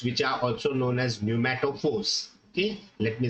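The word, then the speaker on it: pneumatophores: type of roots which are also known as pumat Force okay let me spell it it is Neu m a t o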